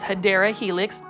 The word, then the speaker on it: Hedera helix: And then right here, we have a Hedera helix, guys, or the correct way to say it is Hedera helix.